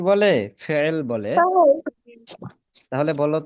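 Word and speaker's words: فعل: আরবিতে যখন বলবা তখন কিন্তু এই মাঝখানে আইন থাকবে, আইন।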